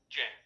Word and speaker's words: ज: कहां तक पढ़ा था, ज तक पढ़ा था। इसको ग बोलते हैं, ग। ये गलत उच्चारण है, इसका उच्चारण होता है क्या, ज। इसका उच्चारण क्या होता है, ज।